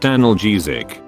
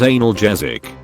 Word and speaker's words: analgesic: expecting to get sick that's actually pronounced analgesic not analgesic sir the pills go in